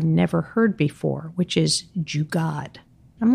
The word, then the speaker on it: jugaad: a word I'd never heard before, which is jugaad. I'm like, what is that? Spell that.